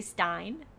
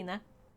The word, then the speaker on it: Stine: Um, many people say Stein, many people say Steen, but the correct way to pronounce it as it is a Norwegian name is in.